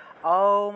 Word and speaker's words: ওম: আমাদের নিয়ম, ওম উচ্চারণের নিয়মটা হলো গিয়ে একদম বড়, মুখটা একদম বড় থেকে ছোট হবে এইভাবে। তাহলে ওম আমরা আ দিয়ে আরম্ভ করব, আ ও উ ম এইরকম। ওম ওম অর্থাৎ আ দিয়ে আরম্ভ করবেন, দেখবেন তারপরে ও আসবে, আ থেকে ও এসে তারপরে উ, তারপরে ম।